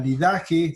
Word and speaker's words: Didache: La didaje, que es un documento que podría aparecer con fechas del siglo I, la didaje se escribe didache, también conocido como la